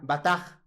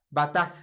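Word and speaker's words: בטח: Viene de esta palabra que prácticamente es una B, una T y una H, pero más o menos se pronunciaría de esta manera. Bataj. Bataj.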